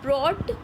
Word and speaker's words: brought: ब्रॉट, BROUGHT, यहाँ पे GH, ब्रॉट। ठीक है, यहाँ पे एच साइलेंट है, ब्रॉट द वुड्स बैक, वो वापस लेके आता था लकड़ियाँ इनटू द विलेज, अपने गांव में।